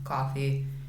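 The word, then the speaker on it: Ko-fi: this quickly I made I think you just say I'd like coffee it's spelled ko - fi comm coffee and it's in the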